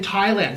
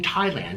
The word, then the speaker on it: Thailand: We don't pronounce the H in Thailand.